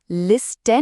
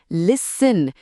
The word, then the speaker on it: listen: इसमें T silent है। हम लिसन नहीं बोलते। हम बोलते हैं लिसन। टी की कोई आवाज नहीं है।